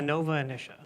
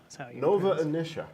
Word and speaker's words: Nova Initia: Academy award-nominated film Nova emission how do you pronounce it I Nova inicia Nova inicia okay so Scott and now let's talk about